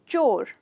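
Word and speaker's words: chore: तो इसका मतलब, इसका प्रोनाउंसिएशन है चोर। चोर, ये जनरली लोग कोर कहते हैं, जो गलत है।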